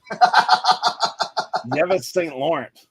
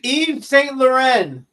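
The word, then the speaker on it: Yves Saint Laurent: Eric what's that brand called dude I can't pronounce that sorry yeis hey it's YSL yis St Lawrence I know Eve Eve St Lauren yeah okay Hey sir how do you pronounce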